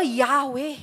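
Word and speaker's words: Yahweh: para mabigkas yan kasi pagka walang vowels yan puro hinga lang ganon par p ganon mo siya babasahin eh so para mabigkas ng tao yahwe nilagyan nila ng a ng e and the very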